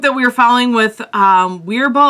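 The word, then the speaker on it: Wirbel: The one group that we were following with Weerbol, I think it's pronounced Verbal, they got one.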